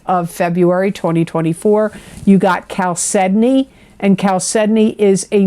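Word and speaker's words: chalcedony: that when I say cal sedney It's c h a l c e d o n y and it is pronounced Cal sedney not shal sedney it's Cal sedney that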